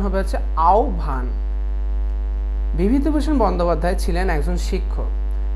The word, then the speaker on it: আহ্বান: আমরা সচরাচর উচ্চারণ করি আহ্বান, কিন্তু এটি ভুল উচ্চারণ। উচ্চারণ হবে হচ্ছে আহ্বান।